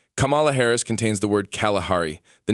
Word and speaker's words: Kalahari: This is an additional reference to the hidden Kalahari in her name, which is pronounced Kalahari as in come.